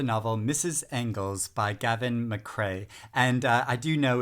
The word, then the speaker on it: McRae: mrs engels by gavin mcrae and i do know it is mccrae not mccree as i originally pronounced